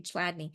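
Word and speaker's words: Chladni: Did I spell it right? Ch. Okay, thank you, Chadney.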